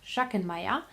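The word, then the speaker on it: Schachenmayr: It's Schachenmeier. You would pronounce it Schachenmeier.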